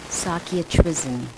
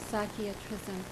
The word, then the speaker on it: Sakya Trizin: a follower of His Holiness, and would you pronounce his name for our viewers? Sakya Trizin. Sakya Trizin.